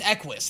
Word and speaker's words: Equis: I can't believe it's actually pronounced Equis. That seems stupid, doesn't it? I thought it was like ei should never be pronounced literally.